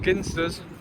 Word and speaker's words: Ginsters: I was well known at college for always having pepperonis, ginsters pasties, properly pronounced ginsters, and yeah, that was it.